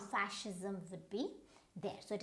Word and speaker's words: fascism: Now you might go wrong with it, you might say fascism, right? No, but it is not fascism, it is fascism, fascism.